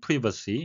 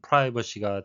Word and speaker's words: privacy: privacy laws, 영국식 발음은 privacy, 미국식은 privacy가 되겠고요. 직역을 하게 되면 사생활법인데 내용적으로는 개인정보 보호법, 다르게 표현한다면 personal data protection laws가 되겠습니다.